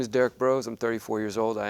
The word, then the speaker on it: Derrick Broze: Our next one up is Derrick Broze. Did I pronounce that correctly?